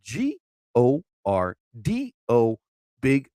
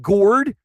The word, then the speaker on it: Gordo B: Again, people think it's all one word. Gord. No. And it's like Gorda B. No, it's not gourd. It's not engorged. All right. It's Gordo B.